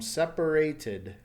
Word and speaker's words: separated: is a T sound so the past tense become separated separated since it's a T sound it adds an extra syllable and the ending sound